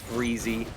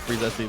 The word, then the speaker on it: Freezesy: Aquarius reminding me that it's pronounced Freezy. I like freezesy though. It's very funny. Yeah, right? I mean, like, there's an SY in there. Why is it silent? Why is this like the P in pterodactyl?